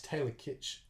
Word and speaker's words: Taylor Kitsch: and I like to taylor kitsch that's how you say his name as gambit in Origins